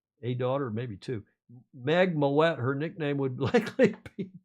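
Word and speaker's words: Moët: time thanks for pronouncing moette correctly Tom alist Murray is saying yeah Americans tend to pronounce it Mo which is not correct it's what what it's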